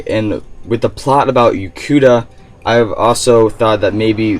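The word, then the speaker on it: Yokuda: They came from the island of Ukanda, or Yukuda, I should say Yukuda. That's how you pronounce it.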